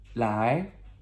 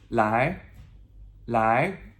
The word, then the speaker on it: 来: Okay, I have two more verbs for us to learn, and that is come, which is 来, L-A-I. Second tone, ascending tone, that questionable what, okay? 来, okay?